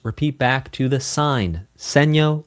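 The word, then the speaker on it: segno: The sign ds means dal seno which means repeat back to the sign seeno like sign.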